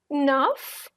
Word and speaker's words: neuf: Neuf, nothing silent, you're pronouncing everything.